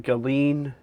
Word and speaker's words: Ghislaine: Again, I'm going on what they said, but they're saying Ghislaine Maxwell. That's how they're saying they pronounce it.